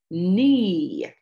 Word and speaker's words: knee: wrong with his e knee the k in that word is silent as well it doesn't talk just like the e at the end of the other word oh our heart lets